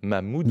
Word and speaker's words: Mamoudou: Ça a été le cas non pas de Mamadou, de Mamoudou. Mamoudou, oui, j'ai mal prononcé son nom.